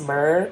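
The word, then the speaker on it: Miir: also the brand like m-i-i-r i believe it's pronounced just mer and i have a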